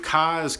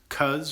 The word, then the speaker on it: Cos: Dave Cos like Cosby. I hate when people pronounce Cuz or Cos.